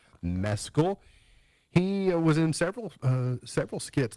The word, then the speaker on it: Mescal: Paul Mescal is how he pronounced his name on SNL. I didn't know if it was Mescal. He pronounced it Mescal.